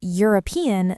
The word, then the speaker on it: European: Same with a European country, because European sounds like it starts with yuh.